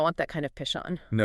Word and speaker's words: Pishon: He said he used to mispronounce it as dishing or pushing as a kid.